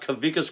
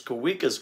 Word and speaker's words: Kawika: First, to answer the question, no, it's not Kavikas Constrictors, it's Kawikas Constrictors. Actually, the W in the name, Kavika, the W is pronounced as a V, and Kavika is my name in Hawaiian.